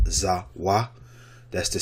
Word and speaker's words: Vav: Although one of the simplest letters to write, vav or wa, which is what it should be, which what it should say, has many different meanings and usages.